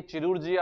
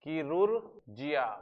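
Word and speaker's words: chirurgia: पढ़ने में ये चिरुर्जिया आता है बच्चों, लेकिन ये अगर आप देखेंगे तो इसका प्रोनाउंसिएशन होता है किरुर्जिया।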